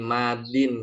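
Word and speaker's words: ماضٍ: Nah, kalau pakai alif lam dia bacanya al-madi. Ya, al-madi. Kalau alif lamnya dibuang jadi madin saja.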